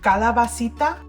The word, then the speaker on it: calabacita: So Angelica, please tell us how to pronounce it properly. So when referring to Mexican squash, we typically say calabacita or technically calabaza.